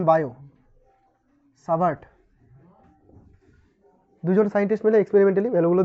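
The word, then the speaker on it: Biot–Savart: সাভার্ট এর সূত্র ইংরেজিতে এই নামটা হচ্ছে বায়োট উচ্চারণ বায়ো সাভার্ট দুজন সাইন্টিস্ট মিলে এক্সপেরিমেন্টালি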